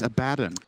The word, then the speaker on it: Abaddon: You said Abaddon again. It's Abaddon.